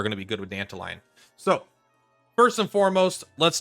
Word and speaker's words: Dantalion: It's not Dantalion. It's you're saying it wrong. It's Dantalion. Whatever, bro. All right, calm down. It's one letter away from Dandelion. So I say Dantalion because I like it.